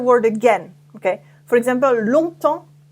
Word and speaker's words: longtemps: For example, longtemps, a long time, longtemps, I know can be tricky because there are lots of silent letters.